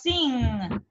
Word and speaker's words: sing: Так, слово sing. Sing. Singing. А, так. Вася. Singing. Singing, да? Посмотрите, в слове sing мы последнюю вот эту г не произносим практически, ребята. Сделайте sing. Такой носовой звук.